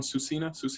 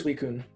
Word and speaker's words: Suicune: Susina, how do you say? Suicune.